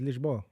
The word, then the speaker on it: Lisboa: That's how you say it in Portuguese, Lisboa.